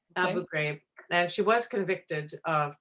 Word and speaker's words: Abu Ghraib: pyramid this is the one in Abu Ghraib pronounced right Abu Ghraib and she was convicted of torturing them and